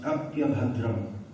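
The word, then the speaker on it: अप्यभद्रम्: This is pronounced, when the words are joined together, it's pronounced apyabhadram.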